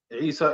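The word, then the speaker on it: عيسى: Isa is with the Ain.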